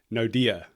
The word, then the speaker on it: Naude: Okay, so I want to make sure I'm pronouncing your name correctly. I'm going to give it my best shot now. Naude, is that right?